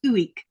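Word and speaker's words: ueq: I never would have known how to say that just from seeing it spelled.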